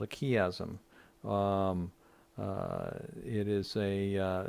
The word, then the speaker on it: chiasm: extensively, and that literary structure is called a chiasm. It is spelled C-H-I-A-S-M, chiasm.